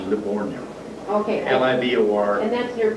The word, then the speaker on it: Livorno: Well, we called it Leghorn. Leghorn, how do you spell it? L-E-G, like a leghorn chicken. Oh, okay. Only that's the G-I, it, actually the town is Livorno.